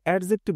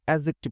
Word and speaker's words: adjective: কথা প্রসঙ্গে বলে রাখি বন্ধুরা, অনেকে অ্যাজেক্টিভ এটাকে অ্যাডজেক্টিভ উচ্চারণ করে। যা হোক, এটার উচ্চারণ অ্যাজেক্টিভ করা উচিত, যদিও এটা উচ্চারণের ক্লাস না।